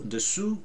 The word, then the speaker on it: dessous: So dessous, under, is easy.